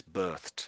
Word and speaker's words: birthed: So it's e d, but we actually pronounce that as some like a t. I would say it's Yeah, it's a t sound on the end.